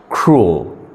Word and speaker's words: cruel: bruur I'm sorry you're absolutely wrong the correct pronunciation is cruel C r u e l it's cruel level